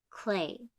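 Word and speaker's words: Klee: it's spelled kle e but it's pronounced clay a quote by Paul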